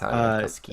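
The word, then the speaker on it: Aarniokoski: So like this first 2 episodes is Darren, and forgive me if I say it wrong, but I think it's Arniakoski. Yeah, it's Arniakoski.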